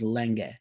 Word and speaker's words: Lange: Well, he started spelling it Lang, but also like he's a German guy who's as a child moved to Australia, so the pronunciation is Lenge.